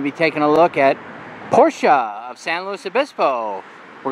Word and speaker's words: Porsche: they say uh well when they talk about Porsches they say Porsche but that's actually the incorrect way to pronounce it not that I'm an